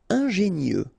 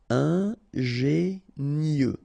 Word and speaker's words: ingénieux: Ingénieux. Final X not pronounced, so I-E-U, I-E, nieux. Ingénieux.